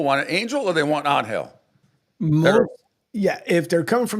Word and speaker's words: Angel: See, Anel, even though it's spelled like your name, Angel, but I and I know that that name that that depending on how the professional athlete wants to name pron. So, Anhill is do most people named